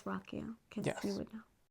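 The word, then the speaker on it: Ruocco: I've watched interviews and I know you would think it's how would you pronounce that rukio rukio okay rukio but it's Rocko CU you would know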